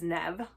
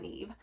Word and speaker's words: Nev: opennev by donnie walton i wasn't sure how to pronounce this when i did my tbr but i actually listened to this one and read it at the same time and it is nev not neve and this ended up